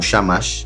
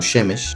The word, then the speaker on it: shamash: la vela del centro no shamash sino shemesh es algo hebreo y